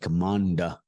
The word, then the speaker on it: commander: you know the word Commander c o m m a n d e r it's not commander commander it's Commander say it with me everyone